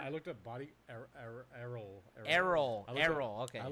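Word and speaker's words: Errol: say let's do some map there David Flynn is spelled e r r o l Flyn error I looked at body ER Erol ER Erol ER okay I looked at body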